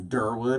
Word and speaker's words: Derwood: wood no way yeah Derwood and the proper pronunciation is Derwood mr Wood okay it's um it's a little town that people generally say is Rockville but it's it's actually durwood okay and it's coming your Gaithersburg Rockville in